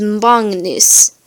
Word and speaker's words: magnus: It's pronounced like the middle of the word hangnail. There's a little N in before the G. An example of this is mongnus.